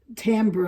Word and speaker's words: timbre: can actually adjust the timbre. I think that's what they call it. It's spelled Timbre, but you don't say it that way. I think you say it timbre. It's a French word, but in any case,